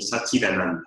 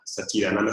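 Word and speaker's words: सच्चिदानन्द: Ananda, como vemos aquí, Sat Chit Ananda es Sat con T, Chit con T y Ananda. Pero por las reglas de Sandy, las reglas lingüísticas, se convierte en Satchidananda. Satchidananda es como se pronunciaría, Satchidananda.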